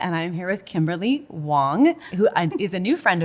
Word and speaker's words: Wang: I'm here with Kimberly Wong who is a new friend of mine it's spelled with an A but pronounced with an o thank you and Kimberly